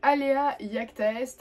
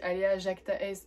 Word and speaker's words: alea iacta est: Donc alea iacta est, alors en français généralement quand on parle pas latin on dit alea jacta est parce que iacta ça s'écrit avec un J